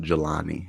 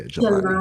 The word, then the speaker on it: Jelani: big deal but um it's pronounced galani yeah jalani galani no that is a big